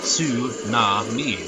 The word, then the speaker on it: tsunami: Because, you know, like, you got some Japanese words that, you know, or like, you know, like tsunami. That's su-na-mi. Those are syllables in the Japanese language, so I imagine it's